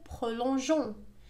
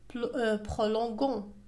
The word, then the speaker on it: prolongeons: Nous prolongeons. لاحظوا أضفنا كذلك E بين G والنهاية ONS لننطقها jon. Prolongeons. Sinon ستنطق gon. Prolongons.